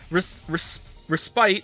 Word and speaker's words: respite: Respite is pronounced as if there were no E.